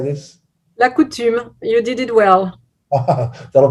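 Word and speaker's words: la coutume: that right sally how do we say this la coutum you did it well that'll be the first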